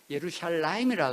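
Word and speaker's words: ירושלים: 그래서 재밌는 거는 여러분이 아시는 대로 예루살렘이라는 단어가 현재 히브리어 사람들은 예루샬라임이라 그래요.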